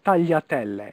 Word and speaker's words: tagliatelle: Okay, so instead of a L, it's a Y.